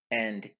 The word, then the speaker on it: a: Na is I in English. O is you. A is he or she. And e is it. A is it. It's not I. It's A. It's pronounced as A.